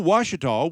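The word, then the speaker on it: Ouachita: A word that starts with an O but is pronounced as if it were a W? We don't do that very much in English, and when we do, as in Ouija board, it's weird and off-putting, and we look for someone to tell us how to say it.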